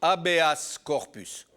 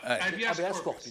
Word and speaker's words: habeas corpus: Le habeas en français, on le prononce, c'est une expression latine, on le prononce habeas corpus. Voilà, habeas corpus.